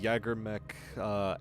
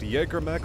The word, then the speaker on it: Jägermech: Some people pronounce it Jägermech, some people pronounce it Jägermech. I flip-flop between the two because, if I recall, it is actually spelt Jägermech, not Jägermech. It is just J-A-G-E-R, not a J-A-E.